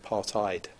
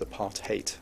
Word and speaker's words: apartheid: often people would say apartheid that's the correct correct pronunciation is a part hate which is pretty easy to remember when you think about the meaning of it but the pronunciation is hate lead city council played